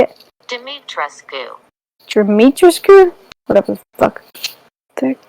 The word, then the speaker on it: Dimitrescu: Dimitrescu. What? That's not how you say it. Dimitrescu.